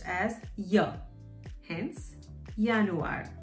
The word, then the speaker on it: Januar: pronounced as ya hence yanuar same spelling starts with a j but pronounced as yanuar february is february february